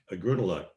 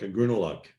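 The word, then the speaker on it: Ugrunaaluk: thank you brutal luck a grunaluck like out of luck a grunaluck uh which is a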